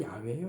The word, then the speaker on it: 야훼: 근데 우리 성경에는 이제 여호와로 나오죠. 여호와가 바로 야훼예요. 야훼. 히브리 발음으로 뭐라고요? 야훼 하나님.